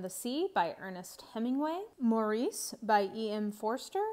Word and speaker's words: Maurice: maurice by Ian Forrester I will mention that I think that the British pronunciation of this is Morris and I just can't get myself there so for me this is Maurice the warden by Anthony